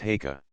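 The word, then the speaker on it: Haigha: happy his name is heah he pronounced it so as to rhyme with mayor I love my love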